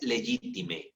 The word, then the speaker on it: legitimae: Y luego legitime se escribe legitimae, ¿verdad? Legitimae.